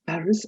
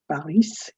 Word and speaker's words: Paris: you have of course did you know we pronounced paris as parhim and it's not paris it's the silent pari you have lyon south